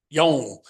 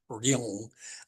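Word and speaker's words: 龍: And it's one of the very few Chinese character words in Korea that is pronounced 2 different ways, or spelling 2 different ways officially, depending on where it is in the syllable within the phrase itself, Yong or Ryong, such, but same Chinese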